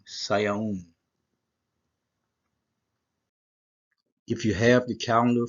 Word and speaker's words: Sivan: Like I say, the correct pronunciation is Sayaun, Saya, and then it's a Wa, Zoom, and that's an N, Sayaun.